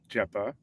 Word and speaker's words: GEPA: say why it's pronounced jeepa and then we can go into what on earth we're talking about, but ja stands for genetic paro. Uh and that's why it's pronounced jeepa because genetic.